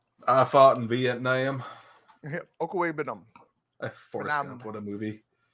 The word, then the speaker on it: Okwuegbunam: Okwuegbunam. Vietnam. That's what I said. Yeah, Nam. I fought in Vietnam. Okwuegbunam.